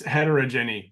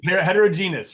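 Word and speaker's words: heterogeneous: place right yeah it's heterogeny there's a ton of heterogeny in ADHD that's the word I use all the time did I say it right you mean heterogenous right did I get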